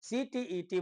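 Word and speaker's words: CTET: क्योंकि लोग बोल देते हैं सीटेट जो गलत है। सीटीईटी बोलना चाहिए और एसटीईटी।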